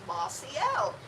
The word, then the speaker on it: Mossiel: how to pronounce it it's an L made of moss it's a Mossy it's